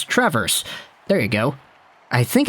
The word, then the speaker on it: Traverse City: that we had in traverse city yeah by the way guys i got it it's not traverse like the verb to walk backwards it's trevor's there you go i